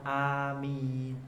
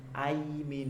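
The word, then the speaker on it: آمين: Tapi dibaca amin. Aimin itu tidak.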